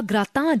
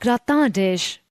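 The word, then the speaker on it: gratin: Next, we need to look for a grata dish. That's a French word, by the way. I'll pronounce it again. Grata. Let's look for the perfect grata dish. No, no, it's not gratish.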